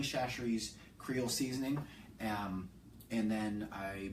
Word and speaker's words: Chachere's: Tony Kacheris, but it's not. I don't think it's pronounced Kacheris. Tony Chachere's Creole seasoning, and then